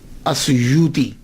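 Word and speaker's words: السيوطي: کے نام کے ساتھ۔ ایک ہے السیوطی، آسویوتی، الف کے اوپر زبر، شروع میں الف ہے، السیوطی، ابن القطب اور الشاذلی، یہ 3 ٹائٹل ہیں۔ یہ جو السیوط ہے نا، اس کے تلفظ میں 2 باتیں قابل غور ہیں۔ پہلی بات تو یہ ہے کہ اکثر الف چھوڑ جاتے ہیں، سیوطی کا، علامہ جلال الدین سیوطی نے یہ کہا ہے۔ یہ اصل میں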